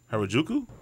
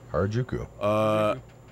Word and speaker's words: Harajuku: I'm going to let you pronounce these because I'm Harajuku? Correct. Hey. Yeah. Harajuku.